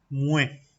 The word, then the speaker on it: muets: Mue. Fíjense que se escribe muets, pero no pronuncio la TS, simplemente es mue.